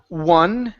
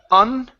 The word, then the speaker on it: one: Next up, we have the word one. Instead of un, it's one.